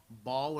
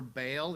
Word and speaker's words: Baal: week with the question who is Baal Bal or Bale you'll sometimes hear it pronounced and this is the